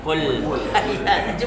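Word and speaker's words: قل: Tapi bukan qul tapi qul. Kul. Ya. Coba bang.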